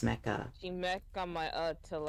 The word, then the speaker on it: Mecha: I don't need to see it when I'm also playing Mech Break. It's Mecha. I'm gaming. You're not pronouncing the A. It's Mecha.